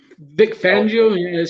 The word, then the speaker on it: Fangio: I don't know how to say his last name. If I'm saying that's it right. No, you said it right. Vic Fangio.